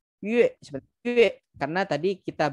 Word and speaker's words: 月: Ini gimana bacanya? Ya, silakan diikuti saya. Setelah saya, Yue, 月 Yue, 月 Yue, 月 Yue, 月 Yue.